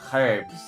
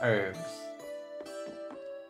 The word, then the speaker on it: herbs: And I'm gonna pronounce them as herbs because we're not French here, okay? Americans are trying to be French. It's herbs, not herbs.